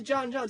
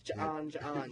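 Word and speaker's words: J'onn J'onzz: for the pronunciation, because I've heard a bunch of people be like, he's John Johns. I'm like, no, there's an apostrophe. It's John Johns.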